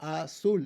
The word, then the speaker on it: azul: azul ends in an l, azul. The stress is on the last syllable.